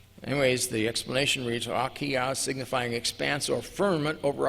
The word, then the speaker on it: Rakia: The explanation of facsimile 2, figure 12 reads, and I'm going to pronounce this correctly, Rakia, not Raukiyang.